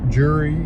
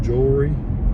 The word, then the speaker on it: jewelry: Jury instead of jewelry.